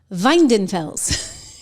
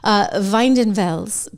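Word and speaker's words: Wiedenfels: Oh, I always want to pronounce it in German, so I will. Weidenfels.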